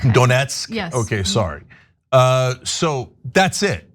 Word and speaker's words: Donetsk: Trump pushed back apparently on part of Donsk. I don't know how to pronounce it. Sorry. Okay. And so Donetsk. Donetsk.